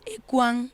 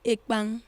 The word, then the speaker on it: ekpang: Many people got confused because some said it's Orocko meal, which is the Balondo meal, and many pronounce it as ekwang and not ekpang. The repronunciation there is ekpang.